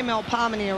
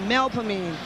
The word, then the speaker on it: Melpomene: But we don't say Melpomene around here, it's Melpomene. Got it?